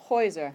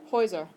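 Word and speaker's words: Häuser: the a good yeah if you have two vowels next to each other and it goes on the first of the two ok so the plural is pronounced heuser ever try that heuser kind of that block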